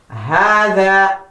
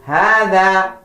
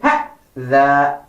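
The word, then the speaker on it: هَذَا: The next word we have is Hada. Do not say Hada. Very wrong. The proper way to say that is Hada. And it is also wrong to say Ha-da.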